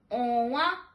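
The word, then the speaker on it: ọnwa: How do you say moon in Igbo is owa, onwa, which is moon in Igbo.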